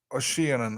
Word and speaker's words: Ossian: I don't even know how to pronounce it. It's Ossianan or something.